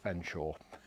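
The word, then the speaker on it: Featherstonehaugh: Stanley's middle name is spelt Featherstone Hall, which is actually one of these marvellous English archaicisms. It's pronounced Fenshaw.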